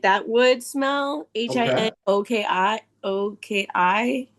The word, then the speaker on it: Hinoki: it kind of smells like, okay, I'm gonna pronounce it wrong, but like my Lavo soap is this smell like hinokai, like that wood smell. Okay. Hinoki.